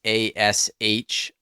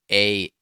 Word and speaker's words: Ahsoka: So I thought it was Ashoka, but it's actually Ahsoka. Yeah, it's Ahsoka, which actually, if you phonetically pronounce it, makes sense.